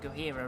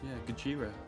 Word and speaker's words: Gojira: the first win of the season I've been pronouncing go hero wrong Gojira Gojira apparently it was deliberately pronounce it incorrectly